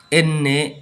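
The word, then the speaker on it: enne: সো এনকে এন্নে এন্নে এন্নে। তো আপনারা আমার সাথে সাথে বলবেন এন্নে এন্নে এন্নে।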